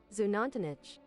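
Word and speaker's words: Xunantunich: Zunan tunish is my guess. I was correct. Zunan tunish. Zunantich. Okay, I messed up the last syllable a little bit.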